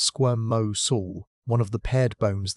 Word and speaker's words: squamosal: Squamos, pronounced squirm mo soul, one of the paired bones that form that iconic frill.